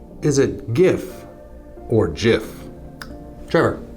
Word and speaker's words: GIF: about a good one what is the proper pronunciation is it gif or jif trevor it's jif no um you got to tell me why